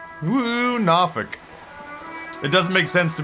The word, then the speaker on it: Norfolk: Woo, Nawfic. It doesn't make sense to me at all that they adopted that pronunciation of Norfolk.